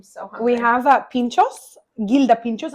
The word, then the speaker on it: Gilda: Gilda pinchos. I think they're pronounced hilda, but I'm not entirely sure.